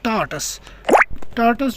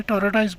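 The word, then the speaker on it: tortoise: तो उसके बाद टर्टल और टार्टस जो होता है, इसको लोग मिसप्रोनाउंस भी करते हैं, टॉर्टाइस बोलते हैं, लेकिन टॉर्टाइस नहीं होता है, ये टॉर्टस होता है और टर्टल होता है।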